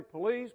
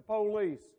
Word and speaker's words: police: drag our words and we accentuate the first syllable i know you're supposed to say police but i still find myself saying the police can't help it but anyway the first